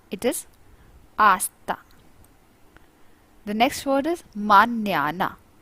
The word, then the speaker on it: hasta: after that it is hasta it is not hasta it is asta the next word is mañana it's near the